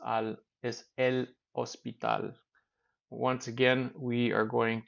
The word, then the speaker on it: hospital: just a reminder to H is silent in Spanish so it's Al is El ospital once again we are